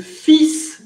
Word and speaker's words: fils: Fils, c'est une exception de prononciation, es una excepción de prononciation. Le L ne se prononce pas et le S se prononce. La L ne se prononce, mais la S si.